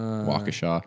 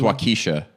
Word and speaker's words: Waukesha: they were very white waukesha that was wakisha when i went there